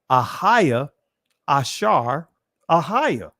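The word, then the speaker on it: אהיה אשר אהיה: am that I am and I want to pronounce this in ancient Hebrew right ahaya ashar ahaya I am that I am and he said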